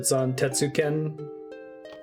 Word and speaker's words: Zantetsuken: annoying to fight hey Odin what's he say zantetsuken zukin zanet suen Z sutin Zan Zan Z Ken yeah zantetsuken is it zantetsuken yeah I was even saying it wrong yeah